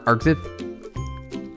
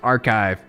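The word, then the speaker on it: arXiv: Like the white papers are Arcsiv. Uh I've seen a lot of these. Yeah. It's basically a giant repository of white papers. Enlighten us, Neva. It's pronounced archive.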